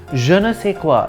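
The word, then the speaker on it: je ne sais quoi: sure nough c'est quoi in French je is pronounced ja n E is pronounced know if a is is say with the last s silent and qu o I is quoi janessa quoi it means I don't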